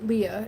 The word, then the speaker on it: Lea: L E A is how you spell my name, but uh Leah is just how it's said. Otherwise, I mean Lee is fine, too.